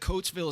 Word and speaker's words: Coatesville: I know that Coatesville is halfway between Philly and Lancaster. Right. I think I pronounced that right.